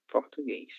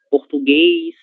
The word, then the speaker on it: português: Letra E, acentuada com o acento circunflexo, seguida da consoante S. Ele sempre terá esse som eis, certo? Português, inglês, japonês, francês, ok?